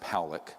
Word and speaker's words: Pollock: This man, William Pollock, his name is pronounced Powlick, was a man, very good man, who gave me an interview only to be released posthumously after he died.